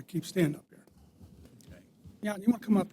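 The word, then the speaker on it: Jan: Yan, you want to come up here? State your name and address for the record, please. Good afternoon. Yan. Yan is spelled J an A.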